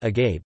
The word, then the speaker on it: agaibh: The form aibh, when occurring at the end of words like agape, tends to be pronounced as an e sound.